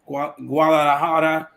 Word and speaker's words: Guadalajara: I heard you mention I always mispronounce that name. Guadalajara.